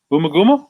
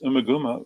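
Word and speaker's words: Ummagumma: Boomaguma? That's a good one, but that's a good title. I love hearing people pronounce it, but so I would think of that more as a mispronunciation rather than, yeah.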